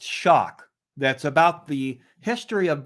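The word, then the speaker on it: Choque: white um but i wanted this book called choke it's actually pronounced shock that's about the history of brazilian jiu jitsu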